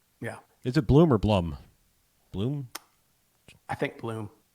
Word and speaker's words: Blum: I was able to Blum like a plum.